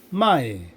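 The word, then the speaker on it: 卖: 아 중국어 발음으로는 마이 마이 아 요렇게 발음이 됩니다.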